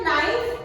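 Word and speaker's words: knife: Knock यहाँ, इसी तरह नाइफ, नाइफ भी लिखते हैं या नाइफ की स्पेलिंग लिखते हैं तो के लगता है, लेकिन वहां पर के साइलेंट है।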